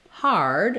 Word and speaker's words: hard: you'll see it with the ER representation for hard as in a hard surface or difficult you'll